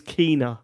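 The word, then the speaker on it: Kena: And it's Kina apparently, but I'm not going to change. No, I'm not going to call it that.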